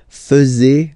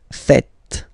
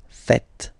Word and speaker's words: faites: tend to say vous faisez, okay? But then no. It's vous faites, vous faites, okay? So remember, final S here is not pronounced, and then this is not pronounced either. So, faites, faites, vous faites.